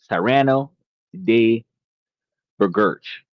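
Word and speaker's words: Cyrano de Bergerac: Cyrano de Bergerch. Yeah, that's how it's pronounced.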